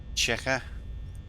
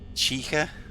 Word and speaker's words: Chica: Chica. How am I supposed to say it? Am I saying it wrong? Like the way you say chocobo. Walk, I feel like you're making fun of me. Chica.